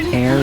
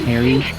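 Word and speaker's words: Ayre: for me to realize it was pronounced air, not airy? Because every time I asked people, they told me it's pronounced air, and I thought they meant that was like the first part of the name, so I thought it was airy.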